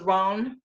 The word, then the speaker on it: Rowan: Celtic when it was Ron, instead of Rowan, when it was Ron. So yes, that's how it was originally pronounced.